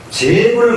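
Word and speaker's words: 諸佛: 이럴 때의 제자는 옛날에는 발음은 제라고 안 하고 저라고 발음했거든요.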